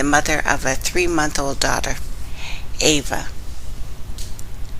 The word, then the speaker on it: Ava: Linda Cassidy, the mother of a 3-month-old daughter, Ava, who, when she pronounces it, sounds like Eve, can find no words to explain what has happened yesterday.